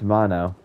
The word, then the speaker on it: Mono: Now that I think about it, it's Mono. That's how it's pronounced, Mono.